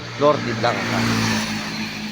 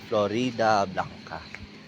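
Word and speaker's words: Floridablanca: Florida Blanca Pampanga na ang nabibigkas kong pangalan ng bayan ninyo is ah flori Blanca Akala ko tul kasi flori yun pala Florida Blanca ang haba naman kasi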